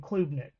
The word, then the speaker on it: Klubnik: And side note, I've heard it pronounced Klubnik and Klubnik. I believe it's Klubnik.